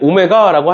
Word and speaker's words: 오메가: 그리고 우리는 앞으로 그 허근을 w라고 쓰는데 얘가 사실은 w가 아니라 오메가라는 애예요. 알겠죠? 오메가다라고 읽으시면 돼요. 그래서 생긴 걸 보면 우리가 평소에 w는 이런 식으로 각져 있는데 쟤는 이렇게 둥글어 원래. 알겠지? 둥근 거니까 쟤는 오메가라고 하시면 되는데 어차피 너네 여태까지 수학